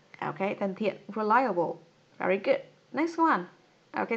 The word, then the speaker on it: reliable: À, ok, reliable. Các bạn nhìn thấy không? Ở đây cô có phiên âm là âm thứ hai này. Reliable. Reliable.